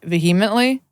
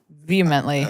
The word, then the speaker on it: vehemently: Is it ve veheemently? Vehemently. Vehemently.